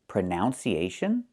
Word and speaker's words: pronunciation: We see the letter U there between the ends, right? That's a short uh sound like cup and up. Prenun. Prenun. So the two first vowels are the same sound.